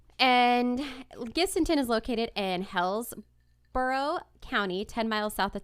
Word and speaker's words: Hillsborough: And Gibsonton is located in Hillsborough County, 10 miles south of Tampa. Hillsborough?